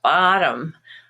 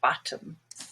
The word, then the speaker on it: bottom: two syllable word like bottom and in american english that's usually pronounced as olive with the stress on ba but then tom which would be a name normally becomes tum your bottom or bottom now we have a